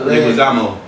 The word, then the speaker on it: Leguizamo: Leguizamo.